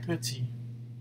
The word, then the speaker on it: petit: Il est petit.